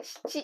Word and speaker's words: 質: 質 or 七と読みます。